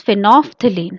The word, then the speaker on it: phenolphthalein: One is phenolphthalein. How to pronounce it?